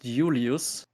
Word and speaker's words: Julius: the Latins did not the Romans did not have the letter J so it's pronounced Julius and uh I wanted